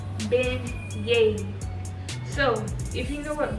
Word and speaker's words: beignets: I always say baguettes because that's how it's spelled, but they're called beignets.